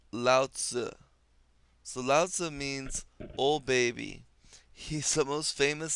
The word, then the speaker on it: Lao Tzu: up is the opposing force so this is pronounced Lao Tzu selasa means old baby he's the most famous